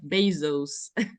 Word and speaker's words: Bezos: Jeff basos said that many people do mispronounce my name and said he said well it should be pronounced like this Jeff Bezos this right from his